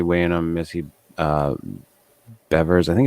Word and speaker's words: Bevers: in on missy uh bevers i think it's beverage it's not beavers uh from from uh texas uh i think it's spelt beavers but it's pronounced bevers um that that's a